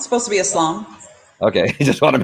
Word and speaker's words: Islam: I mean, it just depends on the pronunciation, but Islam. It's supposed to be Islam.